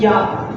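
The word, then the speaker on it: я: It just means I by itself, but it's pronounced as Ya.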